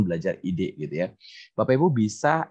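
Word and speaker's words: belajar.id: Nah, silakan Bapak Ibu dengan akun belajar idenya, bukan belajar ide ya, bacanya gitu ya, akun belajar ide gitu ya.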